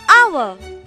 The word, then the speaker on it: hour: H here is silent. Example, an hour.